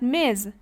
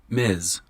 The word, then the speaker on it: Ms: Miss is used for single woman how about Miz Miz can be used for both single and